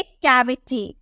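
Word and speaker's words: cavity: में करना है जैसे सी एवी आई टी वाई सी के बाद आपको क्या देखने को मिला ए देखने को मिला ना सी के जस्ट बाद आपको ए देखने को मिला तो इसकी प्रोनंसिएशन क में करेंगे हम बोलेंगे कैविटी कैविटी इसे हम च में नहीं कैविटी नहीं बोलेंगे टी बोलेंगे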